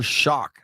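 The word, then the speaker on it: Shough: Sanders, and Louisville quarterback Tyler Shock. I think that's how you say it. Um, s h o u g h. I think that's like a hard ending.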